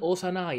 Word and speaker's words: Osanai: Perché Outer in giapponese si legge Osa. E 9 Osanai, è lui.